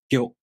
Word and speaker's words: Gyo: To pronounce gyo, the tongue moves from the gi sound to the o vowel, gyo.